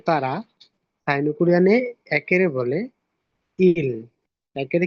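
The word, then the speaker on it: 일: আর রিউল নিচে বসলে রিউল নিচে বসলে ল হবে তো তারা সাইনুকুরানে একেরে বলে ইল একেরে কি বলে ইল বলে তারপর দেখেন দুই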